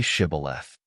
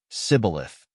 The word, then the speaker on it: Shibboleth: If he replied, "No," they said, "All right, say Shibboleth." He said, "Sibboleth," because he could not pronounce the word correctly.